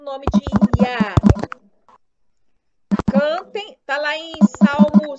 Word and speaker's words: Yah: Além das escrituras sagradas, há uma prova arqueológica de que as duas letras Yud e Re sejam pronunciadas como Yah.